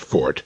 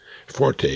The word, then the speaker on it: forte: Incidentally, that's pronounced fort, neverforte, as the uninformed would have us believe. Forte is an Italian musical term.